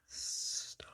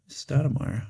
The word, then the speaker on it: Stoudemire: Stoudemire. Not how you spell it, Stou- um demire. Stoudemire. Stoudemire. Who'd have thought Amare would have gotten there?